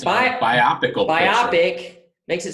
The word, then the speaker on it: biopic: me nuts it's biopic it's bio yeah it's a biographical picture right right biopic right it's biopic biopic makes it sound